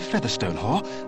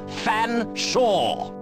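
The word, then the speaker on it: Featherstonehaugh: drink then what ex excuse me Mr Featherstone Hall I presume I can't believe it no I don't believe you cannot pronounce my name properly it's fansa but it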